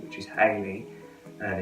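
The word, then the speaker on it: Haley: how to spell it, there are numerous spellings, all of which have the same sound when spoken, and it is pronounced Hayley.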